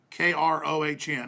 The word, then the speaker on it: Krohn: Kevin Krohn, K-R-O-H-N. How would you pronounce his German? Krohn. This is a German name.